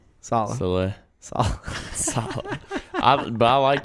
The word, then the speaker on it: Saleh: I thought it was always pronounced Slay. Saleh.